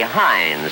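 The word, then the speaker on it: Heinz: you love hin suf no matter how you pronounce it say Hines first and you know it's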